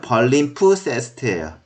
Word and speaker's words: palimpsest: 피자가 좀 묵음해요. 그냥 읽으면 palimpsest예요. palimpsest. 네, 악센트 주면 palimpsest. 자, 이게 뭐냐면은 이게 지금 양피지로 된 페이퍼가 아니라 양피지예요.